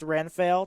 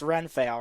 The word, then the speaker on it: Renfail: before i say anything your name is pronounced ren fail right you can either call me renfield or you can call me by my real name either one is fine by me all right i'm just